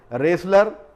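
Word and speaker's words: wrestle: वहाँ पर भी ये वर्ड जो है टी साइलेंट होता है। रेसलर यानी पहलवान के लिए ये वर्ड यूज़ किया जाता है, यहाँ पर भी ये टी जो है वो साइलेंट होता है।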